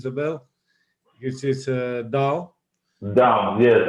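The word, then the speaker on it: Dão: Down, yes. I would say it's down. It's pronounced like with the nasal sound at the finish. It's difficult to pronounce.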